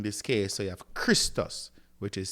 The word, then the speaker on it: Christos: In this case, so you have Christos, which is c h r i s t o s, Christos, right?